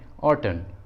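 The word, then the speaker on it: autumn: For example ऑटन, ऑटन, देखिए इसमें सबसे लास्ट में एन है और एन एम के बाद आया है, इसलिए यहाँ पर एन साइलेंट है, इसलिए सही उच्चारण है ऑटन, ऑटन।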